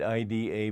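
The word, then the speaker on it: Iḍā: They write it IDA, but there's a dot under the I, and the way to pronounce that D with the dot under is R.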